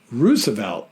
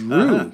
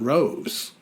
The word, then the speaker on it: Roosevelt: impressed to hear Kevin pronounce Roosevelt Lake correctly as Rue not Rose my kids call me